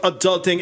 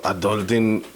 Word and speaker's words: Aduhlting: you pronounce it adulting adult just like that okay all right so tell us a little bit about adulting and what is this